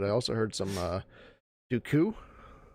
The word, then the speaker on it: Dooku: also heard some uh dooku jakku yeah dude yeah something like that yeah he puts that emphasis on that last syllable or something it's interesting